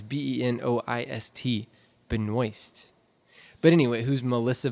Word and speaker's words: Benoist: It's Benoist. Benoist. But anyway, who's Melissa Benoist? Keep saying it wrong there, Josh. Benoit. Benoist. Let's go there. Benoit would be a O-I-T.